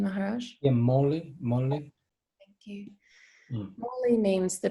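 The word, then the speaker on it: मौलि: Mauli means, is that the right pronunciation, Maharaj? Yeah, Mauli.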